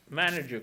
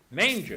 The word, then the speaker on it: manger: Mais, Manager, comment tu prononces ça? non, ça c'est Manger.